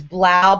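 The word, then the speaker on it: 3LAU: love the most is um his name is Blau but it's spelled with the number three so it's three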